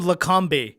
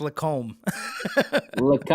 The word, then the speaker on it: Lacombe: did i say stephanie you called him lecombe it's lacombe hey i like that